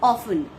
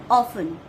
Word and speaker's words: often: Now come to the 10th word, that is often. That is often. Over here you can also see T is silent, but while spelling T comes and while pronouncing the sound of T is not there.